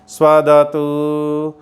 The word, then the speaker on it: स्वदतु: यहाँ पर ऊ दीर्घ नहीं है, लघु है, छोटी ऊ की मात्रा है, तो इसका उच्चारण हम शुद्ध रखें। स्वदतु स्वदतु स्वदतु। लंबा खींचेंगे तो वह दीर्घ हो जाएगा, वह अशुद्ध उच्चारण होता है, इसलिए छोटी छोटी